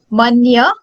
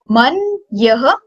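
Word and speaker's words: मन्य: Fourth is manya, man yah, man yah. So when you will pronounce it, it will be man yah, man yah, ka.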